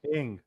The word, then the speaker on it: Ng: Ing.